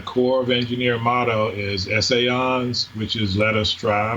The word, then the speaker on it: Essayons: We pronounce it Essayons. Essayons.